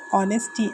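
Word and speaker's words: honesty: देखो ये एच से चालू होता है। लेकिन हम इसे प्रोनाउंस करते हैं ऑनेस्टी। एच हमेशा साइलेंट रहता है।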